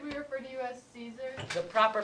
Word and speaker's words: Caesar: So should we refer to you as Caesar? The proper pronunciation is Caesar.